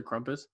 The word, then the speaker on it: Krampus: children at christmas time say krumpus if you pronounce it right yes but i'm going to give it to you oh i i i used to say krampus and then that's isn't